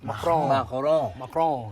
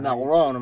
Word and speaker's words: Macron: He said, Macron. Gotta say it right. Macron, mademoiselle.